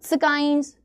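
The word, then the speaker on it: science: आप एस के बाद साइंस ठीक है ना साइंटिस्ट ऐसे नहीं पढ़ते हो आपका एस के बाद ये जो सी होता है ये क्या होता है साइलेंट होता है सेंट बोलते हो सेंट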